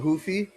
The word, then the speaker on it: Ruffy: I thought Mauricio Hufi, that's how it's pronounced. Even though it's Ruffy, Ruffy, whatever the he looks really good still.